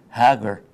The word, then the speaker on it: Hagar: her in the Bible what Hagar very close if you're from Egypt it's Hager Hager the Jee pronounce as yeah true so maybe